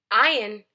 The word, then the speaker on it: Ayin: Ayin is a silent letter. It does not make a sound, it takes the sound of the vowel.